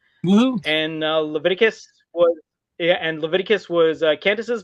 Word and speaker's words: Leviticus: In eighth place is Levicus. Leveticus Leviticus. I think, you know what, after relisting to the edit, I think I mispronounced it like three times and all that sort of thing.